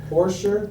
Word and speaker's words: Porcher: else sure and your your first name is pronounced Porsche Porsche Porsche yes okay Junior make sure